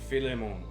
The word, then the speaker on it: Philemon: We are going to do today the book of Filimmon. I like that. Yeah. I like that pronunciation.